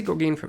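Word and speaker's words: Gorgagne: Gorg Mills or Gorgane because it is French pron pronunciations here. So G O R G A G Nancy E Gorgane maybe Gorgane Mills. I'm going to say Gorgane because it sounds better than Gorgney.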